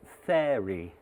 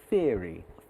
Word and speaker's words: theory: he meant mentor and also theory which should have been theory theory to rhyme with ear like my big ears I think one point